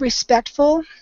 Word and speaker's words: respectful: And just the word respectful. Instead of an A sound, try a short E sound, respectful. It was coming out more like respectful.